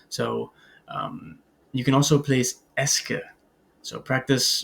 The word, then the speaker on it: est-ce que: So you can also place est-ce que. So practice pronouncing that with me. Est-ce que.